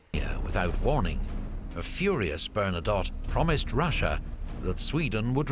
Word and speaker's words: Bernadotte: napoleon occupied swedish pomerania i heard the bernadotte there i know a lot i was mispronouncing that and saying bernadette because for some reason that's what it sounded like in the other videos but i clearly heard